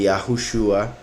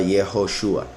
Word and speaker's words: Yahushua: se pronunciara Yahu en el nombre del Mesías, que ellos rechazaron. Lo cambiaron a Yeho con la E y la O de Elohim. Entonces se cambió a Yehoshua.